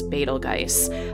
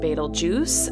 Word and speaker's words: Betelgeuse: is called betelgeuse and keep in mind that there's many pronunciations of this star and i'm also often challenged by this in the comments section of my channel that i'm pronouncing it wrong however i've worked with other astronomers and other educators that have pronounced it as betelgeuse however i've also heard it pronounced betel juice as well as beetlejuice i kind of feel